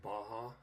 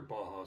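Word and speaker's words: Bahia: Okay, the first one that I have in here is it's made by Baja. I believe you pronounce it B-A-H-I-A.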